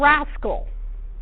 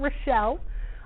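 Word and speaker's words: raschel: And we're going to learn about the warp knits, which include tricot and rascal. That's how that's pronounced. This is not Rochelle.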